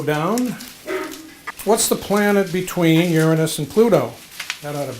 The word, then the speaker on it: Uranus: body part is that close to okay it's pronounced Uranus tenderness so I want you to write on